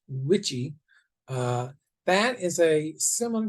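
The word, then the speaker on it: WICHE: and the last one you see which is pronounced witchy uh that is a similar to the southern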